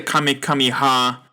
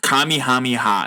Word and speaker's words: Kamehameha: Quest and Dragon Ball Adventure Island use the kamikami ha Kami Hami ha oh that's how it's pronounced Kamehameha not kamikami kamikami aha ability quickly move around